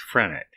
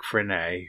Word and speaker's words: Frenet: significant modes are various flavors of frenet sometimes pronounced phrenic so named for Jean Frederick frenay who derived equations to